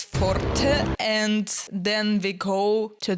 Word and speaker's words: forte: I mean, it's a Latin or Italian word. I'm just going to pronounce it in Italian way. So then it's forte, and then we go to the next chorus to build forte even more.